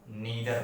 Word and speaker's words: neither: याद रखेंगे प्रोनाउंसिएशन पे विशेष ध्यान देंगे। इसको ईदर पढ़ते हैं, उसको नीदर पढ़ते हैं।